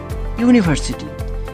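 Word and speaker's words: university: দেখো ইউ অর্থাৎ ইউ এর উচ্চারণ ইউ এর মতই হচ্ছে। ইউনিভার্সিটি। ইউনিভার্সিটি এটা ইউ এর উচ্চারণ ইউ এর মত হচ্ছে।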